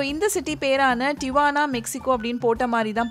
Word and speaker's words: Tijuana: So usually வந்து நம்ம டிஜுவானா அப்படின்னு டக்குன்னு படிச்சிருவோம். பட் ஜே வந்து சைலண்ட்டு, அதனால் இதை எப்படி ப்ரொனவுன்ஸ் பண்ணுவாங்க அப்படின்னா டிவானா அப்படின்னு சொல்லுவாங்க.